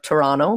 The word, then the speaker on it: Toronto: Christmas market in Toronto, or Toronto for people that don't like to pronounce all the letters in a word.